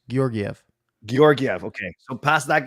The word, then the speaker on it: Georgiev: Is it hard G's or soft G's? What do you say? A hard G to start. It's all hard G's. Georgiev.